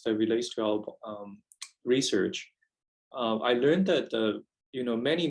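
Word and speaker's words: 癌: looking through literatures that relates to our research i learned that you know many many hundreds of years ago the pronunciation of cancer in in men you know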